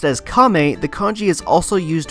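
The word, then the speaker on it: 亀: Pronounced as Kame, the kanji is also used within the name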